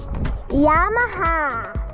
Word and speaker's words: Yamaha: How do you pronounce the motor name? Oh, Yamaha.